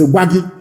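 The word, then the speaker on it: Gbagyi: It is not guari. That is the correct pronunciation. Because inaonation they cannot pronounce. That was why they named it Guar. It is not Guari. It is wagi. Gb a gi.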